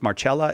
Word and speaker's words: Marcella: But these holy women are his close friends who he relies upon, and also says how Marcella is how you would pronounce the name.